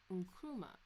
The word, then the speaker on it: Nkrumah: How to pronounce blobbity blah. Nkrumah. Okay. Nkrumah.